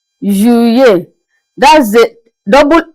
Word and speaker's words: Juillet: Juillet. Juillet. That's the double L. In the middle, we pronounce the double L.